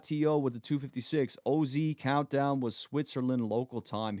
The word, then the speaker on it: OZ: For people calling him Oz, it's OZ. His name is not Oz. But I could see why people would say that, right? But his name is actually pronounced OZ.